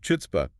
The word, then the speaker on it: chutzpah: But the spelling starts with the CH. In Yiddish, that CH stood for the velar fricative.